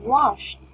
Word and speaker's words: washed: Like, what is your word again? Washed. Washed. It's T sound, right?